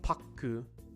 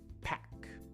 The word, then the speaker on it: pack: That one is pack, pack, right? Not pakku, pack. You also notice that we're practicing that open A sound, right?